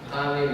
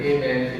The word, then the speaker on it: Amin: Amin and Amen is the same. Only little bit difference of pronunciation.